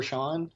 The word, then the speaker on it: Sean: They're on WOA FM 99 with DJ Oliver Sean or Oliver Scene. I'm not sure how you pronounce it. It's pronounced Sierra Echo Alpha November. Yes, it is. That'll be Sean.